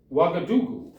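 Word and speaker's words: Ouagadougou: And here's how you pronounce it. Do you know Do you know the Hallelujah chorus for Handle the Messiah? Hallelujah. Hallelujah. Hallelujah. Hallelujah. Hallelu. Say it. Wagadoo.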